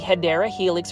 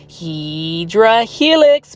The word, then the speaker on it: Hedera Helix: For instance, this is the Hedera Helix, or English Ivy. This one is the Sterling Ivy. And for those that are new to the channel, I mispronounce Hedera Helix as Hydra Helix because it is a plant foldy inside joke.